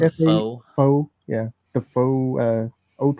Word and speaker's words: faux: Fu fo faux.